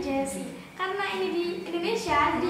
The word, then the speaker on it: Geszy: Iya, actually nama aku tuh pronunciasinya bukan Gezi tapi Jessie.